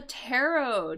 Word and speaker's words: tarot: And notice how I'm pronouncing that. Because I know there's a T there, right? There's a T at the end. But this T is actually silent. It's just tarot.